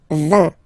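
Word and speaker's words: vingt: And the last one, so this G letter is here, but you don't pronounce it, okay? And then final T doesn't exist phonetically either, so basically you will only need to pronounce these three letters.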